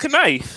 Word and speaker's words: knife: k-n-i-f you would think no that's knife no the K is silent that silent letter [